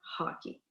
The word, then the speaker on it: hockey: Donc, un bel exemple de ça, c'est de parler du mot hockey. Quand je l'écris en français, il prend un H. En anglais aussi, il s'écrit de la même façon, mais en anglais, je vais prononcer le H, donc je vais faire hockey.